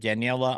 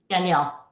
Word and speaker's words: Danielle: We're going to be back with Daniela. Did I say it right that time? Danielle. Okay, Danielle. Okay, I'm getting there.